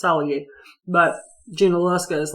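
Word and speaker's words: Tsalagi: Cherokee wasn't pronounced Cherokee either, it's Saligee.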